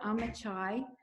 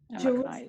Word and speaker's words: Amichai: Jerusalem, Amichai is what they pronounce it.